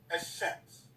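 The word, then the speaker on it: الشمس: Now here, when you say, even though it be written Al-Shams, when you pronounce it, it's Shams. Shams.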